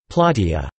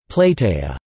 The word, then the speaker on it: platia: is the fact that, phonetically, the word square in Greek sounds exactly like this, plateia, since a is now pronounced I, as an instance of iodicism, but not for the phonology and the historical or learned pronunciation of the ancient Greek language, where it was plateia.